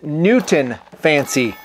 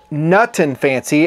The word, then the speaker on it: Nutton Fancy: On your website, you have me listed as Newton Fancy. It's Nutton Fancy, as in the Nutton Fancy project.